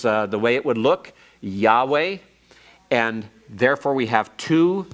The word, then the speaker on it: Yahweh: with the real name, Yahweh. It has to do with this form. Your schwa here, and your holum here, and your comets here are for Adonai. Don't ever pronounce Yahweh as Yehovah or Jehovah.